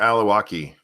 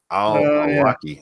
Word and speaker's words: Al-Awlaki: And that was Anwar Al-Awlaki. Al-Awlaki, I think is how you say it.